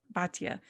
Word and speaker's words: Batya: Batya.